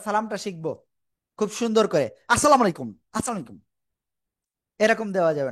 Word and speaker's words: আসসালামু আলাইকুম: শিখবো খুব সুন্দর করে আসসালামু আলাইকুম আসসালামু আলাইকুম এরকম দেওয়া যাবে না আসসালাইকুম এরকম দেওয়া যাবে না ঠিক আছে সালামটা কেমন দিতে হবে আসসালামু আলাইকুম এরকম এরকম দেওয়া যাবে না কেমন দেব।